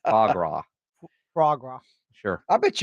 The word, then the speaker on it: foie gras: With faux gras. Faux gras. Is that how you say it? Foie gras.